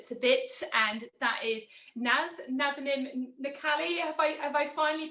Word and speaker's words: Naz: love her to to bits and that is nice have i finally pronounced that right is that right yeah i